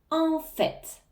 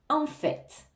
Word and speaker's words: en fait: en fait en fait en fait ça veut dire d en fait en fait attention ici on va bien prononcer le T à la fin en fait en fait